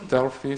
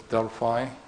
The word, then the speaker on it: Delphi: Some people pronounce it as Delphi, some people pronounce it as Delphi. I think most Americans pronounce it Delphi.